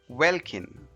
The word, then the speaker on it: welkin: is spelled as w-e-l-k-i-n this word is pronounced as Vulcan welcome might not look